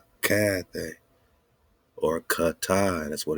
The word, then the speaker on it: Cathay: This China again, hard K, Kana, Cathay. It's not Sathay, it's Cathay.